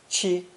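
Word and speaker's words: 七: given a bent shape this character and its first tone pronunciation chi chi were borrowed to indicate the number seven here are two examples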